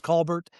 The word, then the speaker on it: Colbert: He says Coair down in Oklahoma. It's Colbert.